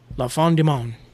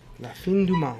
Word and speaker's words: La Fin du Monde: As I put it in F-O-N for some reason on my spelling, even though it's spelled F-I-N. Yeah. La Fin, like when you see the end of a movie.